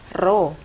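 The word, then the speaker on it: rho: massa jenis zat cair ini dibacanya adalah roh ya bukan Peni Roi zat cair jawabnya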